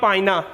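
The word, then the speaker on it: pinna: बेटे ये मौजूद होती हैं हमारे एक्सटर्नल पाइना ऑफ ईयर, बेटे पिन्ना भी इसको पढ़ते हैं और पाइना, सही प्रोनाउंसिएशन है इसका।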